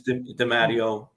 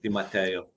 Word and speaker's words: DiMatteo: Americanized, it's DiMatteo. Italian, DiMatteo.